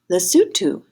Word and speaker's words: Lesotho: africa let's see i looked up how to pronounce this country it's lesotho i'm going to put that leg on my